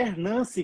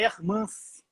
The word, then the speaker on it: Ermance: pois é, tem muita gente falando que o nome dela é Hernance, com N de navio, e não é com M de Maria, é Hermance.